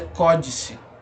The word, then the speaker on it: códice: a gente sabe que a pronúncia dela é códice, né? Por conta do acento agudo aqui na sílaba tônica, né? Na antepenúltima sílaba da palavra, né? Marcando que ela é uma proparoxítona.